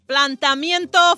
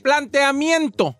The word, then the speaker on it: planteamiento: Dile, ¿cómo se dice? Planteamiento. Planteamiento. Filosófico. Planteamiento. Planteamiento. No es planta. No. Es planteamiento. Plantea.